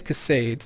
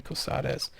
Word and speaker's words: Cosades: I know it's Kais, but I don't know how to pronounce this last name. So I always just say casades, even though it's probably couses.